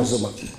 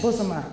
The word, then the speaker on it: Bozoma: Bozoma. Correct, and pronounce it. Yes, Bozoma, it's correct, you know?